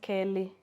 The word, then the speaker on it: Keli: No, it's Kelly. It's Keli. Okay. Which in Kamba is pronounced Kelly.